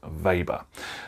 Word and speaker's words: weber: vapor now it's pronounced weber but it's spelt with a w because i think that the gentleman that this named for was german so his name is pronounced weber and the unit symbol